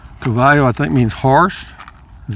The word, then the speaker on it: Caballo: l l o pronounced Cabo Cavo in Spanish Cavo I think means horse